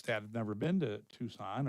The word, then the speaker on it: Tucson: have never been to Tucson are still pronouncing it as tuxen and they understand they think it's brown all the time.